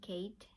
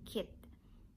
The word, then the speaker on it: Keith: i am wrong and i shouldn't pronounce charles and kate i should pronounce it charles and kit so if you have